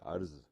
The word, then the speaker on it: عرض: جی ہاں، آج کا جو لفظ ہے وہ ہے عرض، جو کہ عین سے لکھا جاتا ہے اور رے اور زوات، رے پہ سکون ہوتا ہے.